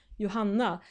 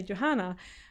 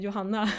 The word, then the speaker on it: Johanna: And if you're curious how I say my name in Sweden, I actually say Johanna. But the fun thing is when I'm speaking in English, I notice that I adapt a more English pronunciation of my name. So I say Johanna, but actually I'm called Johanna. So it's quite a bit different, but you know, it